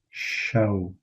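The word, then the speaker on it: شەو: Night would be show. It's like you know the British pronunciation of the word show which would be show.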